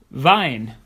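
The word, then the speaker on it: Wein: get them right as the wrong vowel combination can change the meaning of the word for example Vine meaning wine as opposed to V which is the capital city of Austria Vienna Lia means unfortunately but leer means songs if you see another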